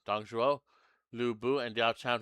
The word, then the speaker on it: Dong Zhuo: There might be repeat battles, and I say that because, well, there's Deng Xiao, whatever his name is, Dong Zhuo. I think that's how you say his name. Dong Zhuo, Lu Bu, and Diao Chan, who all made their appearance in Hulao Gate.